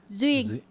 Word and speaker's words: Duyên: Because it's Duyên, and anytime there's a D with a UY, it's not pronounced as a D. Okay. Just keep that in mind. If it's a D and there's a UY, then it becomes U instead of duh.